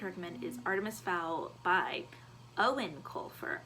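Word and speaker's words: Eoin: is Artemis Fowl by Owen Colfer I did not know how to pronounce his first name until I literally looked on Goodreads I've been saying yoanne colfer because it's spelled like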